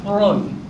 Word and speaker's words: Freud: Y Freud se pronuncia Freud.